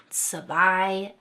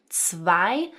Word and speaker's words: zwei: So notice various combinations like the 'ei's that say 'eye' as in 'eins' and 'zwei' and 'drei'.